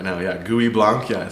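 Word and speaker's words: Gouais Blanc: interesting varieties out there, and I'm going to mispronounce this next grape variety. GUI Blanc. Thank you. Yeah. That's a talking point for them right now. Yeah. GUI Blanc.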